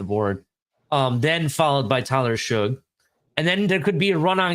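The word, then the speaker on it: Shough: Well, Tyler Shug, first of all, that's how you pronounce it. You know what? He's slow to me. I get you, but it is Shug. I confirmed it.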